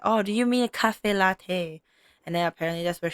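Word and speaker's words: caffè latte: Cafe cafe latte is the right way to say it.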